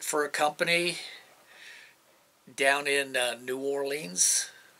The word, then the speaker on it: New Orleans: I went into the security contracting, and I worked for a company down in New Orleans, Louisiana, or New Orleans, as it's properly pronounced, after Hurricane Katrina.